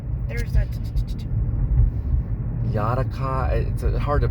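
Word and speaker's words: Janáček: that Theater Festival and Brno place called Internet Yanik ah hard to pronounce it's Yannick Academy it's a type of theater academy or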